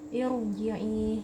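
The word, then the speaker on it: ارجعي: Irji'i. Jadi ro di sini karena kasrohnya bukan kasroh asli, maka bacanya tebal, irji'i bukan irji'i, karena kasrohnya ini kasroh tidak asli ya.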